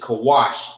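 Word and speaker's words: כוש: So the Ethiopians is Cush, which is Kawash in Hebrew.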